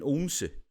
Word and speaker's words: Odense: the episode, I said, I'm living in Odense. because that's the kind of the way that the people who live on the island that Odense's on pronounce it.